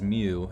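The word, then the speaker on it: Meaux: butt kicked hell yeah says mew m-m-e-a-u-x a full-on occasion uh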